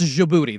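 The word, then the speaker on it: Djibouti: oh jouy jouti what there's a Jay in there right yeah there's a j it's a it's jouti the D silent but I prefer Dy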